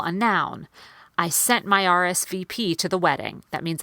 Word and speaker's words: RSVP: I R I P RSVP that one is equal on every syllable RSVP but the connection is